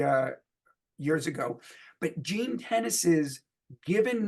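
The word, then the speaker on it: Tenace: early 80s named Jean tennis not spelled like the sport but spelled like the word 10 and the word Ace Tennis uh he was a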